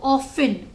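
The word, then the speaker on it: often: sun under it आई ऑफें seat T नहीं पढ़ेंगे T silent है तो ऑफ इन ऑफ इन under it आई ऑफें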